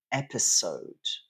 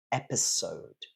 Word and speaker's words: episode: classes is the word episode episode uh so in French it would be episod but in English it's episode so stress is on the first syllable and it's a s